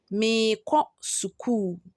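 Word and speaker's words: Mereko sukuu: The next example is number 4 says, Mireko suku. Mireko suku. But when you are mentioning or pronouncing it, you will say meko suku.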